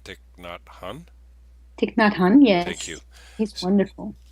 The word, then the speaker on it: Thich Nhat Hanh: When I read the Miracle of Mindfulness, written by is it correct my pronunciation? Thich Nhat Hanh? Thich Nhat Hanh, Thank you.